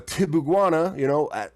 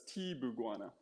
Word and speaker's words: Tibuguana: I is E in Spanish, so it's Tibuguana.